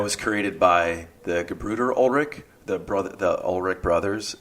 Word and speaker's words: Ullrich: uh yeah so and how do you say your last name ulrich ulrich ulrich yeah ulrich it's german ford do you know